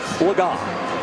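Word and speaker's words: Legas: you by cameo cooper lagann that is the correct pronunciation as we corrected ourselves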